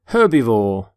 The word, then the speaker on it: herbivore: herb by the way you pronounce the H in the word herbivore for example this stomach